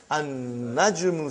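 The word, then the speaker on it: النجم: Now we have an-najmu. So how will you pronounce, brother? An-najmu ba'idun. You did not pronounce lam.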